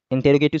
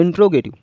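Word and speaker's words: interrogative: Assertive तो सही पढ़ लेते हैं, इंटेरोगेटिव को वो बोलते हैं इंट्रोगेटिव, इंट्रो। तो ये आपका गलत प्रोनाउंसिएशन होता है। इसका जो सही प्रोनाउंसिएशन होता है वो क्या होता है? इंटेरोगेटिव, क्योंकि देखो इंटे ना कि इंटो, तो इंटेरोगेटिव, राइट।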